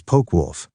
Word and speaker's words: Focke-Wulf: In Korean, the Focke-Wulf would be pronounced as Poke-Wulf.